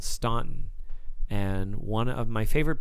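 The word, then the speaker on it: Staunton: in there but anyway Stanton Virginia s t a u n t o n it doesn't it's not spelled like it sounds but do check it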